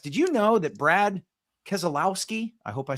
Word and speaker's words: Keselowski: Did you know that Brad Keselowski, I hope I spelled pronounced that right, the NASCAR racing personality that was guest coaching the West brought in over Keselowski.